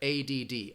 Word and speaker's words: ADD: But again, you're going to pronounce each letter, ADD, Attention Deficit Disorder.